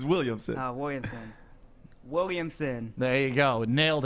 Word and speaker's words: Williamson: you said Williams. It's Williamson.